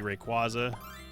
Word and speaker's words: Rayquaza: Favorite Pokemon overall is still going to be Rayquaza. No, I will not get drawn into another debate on how to pronounce it.